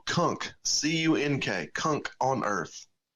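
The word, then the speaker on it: Cunk: big fan of dry Kunk see in K Kunk on Earth not KK but C NK often mispronounced no it's no there's not a t in there it's a k all right coach you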